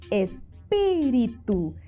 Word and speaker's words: espíritu: ¿Cuáles eran las esdrújulas? ¿Dónde llevaban el acento, el mayor esfuerzo de voz? En la antepenúltima sílaba. Muy bien, entonces, ¿cuál de esas es la esdrújula? Observemos. Claro, espíritu. Esa era la palabra esdrújula.